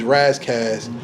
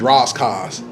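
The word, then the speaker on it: Ras Kass: People say his name differently. On the West Coast, he's Razzcast. On the East Coast, he's Roscaz.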